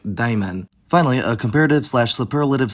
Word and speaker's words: دايماً: The adverbial form of an adjective can be formed by adding the suffix n, although be aware there's no nun written on that suffix, but it's still pronounced like daiman.